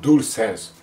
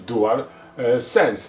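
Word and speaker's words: DualSense: ponoć do dól sens teraz wszyscy mówią dól sens tak to mówiło się DualShock tak to teraz się powinno mówić Dual sens No ale nie teraz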